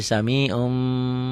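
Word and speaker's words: سميع: n-nya dibacanya n-nya hilang ini kan Samiun ditulisnya ya dibacanya jadi samium Basir Min ditulisnya dibacanya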